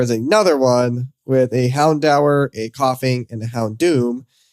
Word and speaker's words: Houndour: I usually say Hounder, but it's Houndour. I'll defer to Sean. Break the tie. Is it Greek? It says a combination of hound and I think this word is dour. D-O-U-R. Door. But I would pronounce it door.